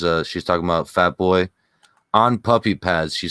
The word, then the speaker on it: pollo: can kind of translate the polo boyo not polo oh yeah yeah yeah